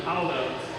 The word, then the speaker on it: Halder: Jamie Halder is the correct pronunciation.